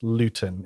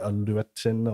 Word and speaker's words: Luetin: pronounce rabut Gillman um they don't pronounce it quite looting it's he does go with like a lutin or something curious like that but I'm used to